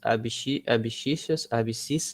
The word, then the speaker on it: abscissas: E aí eu passei para vocês também o eixo das abscissas, né? Que é a pronúncia correta.